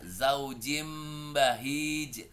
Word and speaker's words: zaujin bahij: Nah, ente masih ingat kan nih kenapa ane baca zaujim bahij sementara tulisannya zaujin bahij anne bacanya jadi zaujim iqlab weh mantap apa kasrotain ketemu b ba eh masyaallah jago ke